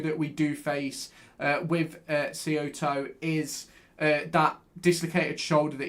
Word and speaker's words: Saito: I think you pronounce it Saito, as in Simon, not Saito.